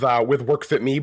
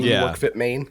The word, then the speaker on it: WorkFitMe: How do you pronounce that? I usually go with WorkFitMe, but it's kind of a play on WorkFitMe, WorkFitMaine.